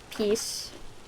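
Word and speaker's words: P's: then plug into your piece your piece Tamagotchi. It's P apostrophe S, but it's pronounced like peace.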